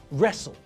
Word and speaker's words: wrestle: w is silent and in the same way we don't pronounce the silent w in these words either rap right wrestle wrist now with the words